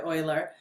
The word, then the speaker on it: Euler: um so personal favorite of mine that boy oiler um pet peeve so many people pronounce his name euler not euler it's euler